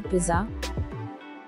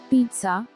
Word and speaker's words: pizza: are pronouncing it as wrong as pissa or pizza its correct pronunciation is pizza it contains two syllables peat sar so the